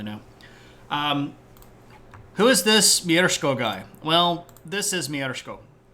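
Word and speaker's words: Mieszko: rules until 992 um someone should tell him there's no R in his name right but that's how you pronounce it that's how you say it mko uh it's this that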